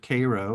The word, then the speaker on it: Cairo: the playing of that play So here in Cairo Illinois spelled like Cairo but we pronounce it Cairo in southernmost Illinois uh you see the African-American